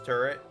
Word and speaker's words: turret: I decided when I was a child that there was an N in turret, but it's turret.